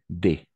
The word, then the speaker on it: des: On prononce des, tout simplement. Des fromages. Parce que, comme Adriana a dit, la plupart du temps, on ne prononce pas le S à la fin.